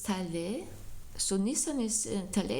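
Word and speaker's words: טלה: Yeah, Taleh.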